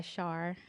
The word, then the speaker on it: Shar: So I just go by Shar, and I think that's a little unique for a lot of people as well, so they can remember it. So I think that's what you say rhymes with star, so they can go by that as Shar.